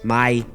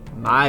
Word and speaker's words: mai: The word madre, meaning mother becomes mai, My. The word Okay. padre, meaning father becomes pai, Bye. Okay, my bye.